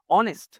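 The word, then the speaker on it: honest: এর মতন উচ্চারণ হচ্ছে অনেস্ট অনেস্ট ও এর মতন উচ্চারণ হচ্ছে বুঝতে পেরেছ আচ্ছা এইজন্য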